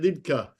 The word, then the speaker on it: Liedtke: you know if you're if you're in Germany you call you say it lidka if you're if you're